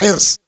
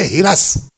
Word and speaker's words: حرص: صحیح تلفظ ہے اس کا حرص، ہے رے صاد حرص. لکھنؤ والوں سے بات کیجئے گا تو وہ کہیں گے ہرس.